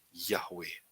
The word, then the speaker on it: Yahweh: Kalau Yod, He itu berarti bacanya Ya. Kalau Waf ditambahi He lagi belakangnya akan membentuk satu kata Yahweh.